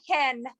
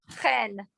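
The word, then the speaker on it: חן: It's a chet, not It's a chet and not a hey. Ah, So it's not hen, it's chen.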